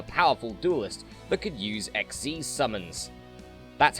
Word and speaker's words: Xyz: was also a powerful duelist that could use xz's summons that's how you pronounce it by the way it's not xyz like or xyz like i initially thought it